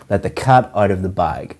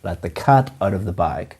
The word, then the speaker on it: let the cat out of the bag: and a nice surprise the pronunciation of this is to stress or emphasize cat and bag let the cat out of the bag let the cat out of the bag common mistake that we